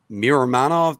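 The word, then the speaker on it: Miromanov: Purcell and uh Daniel mirror manov do I pronounce that right yeah Manoff okay uh Anthony who do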